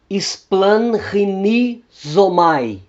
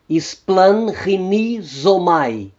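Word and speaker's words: σπλαγχνίζομαι: O gama antes das guturais capa, gama e ri vão soar como N.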